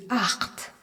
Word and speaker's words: acht: Et EN à la fin, qu'on retrouve souvent à la fin des verbes et qui se prononce EN. Le nombre 8 se dit acht.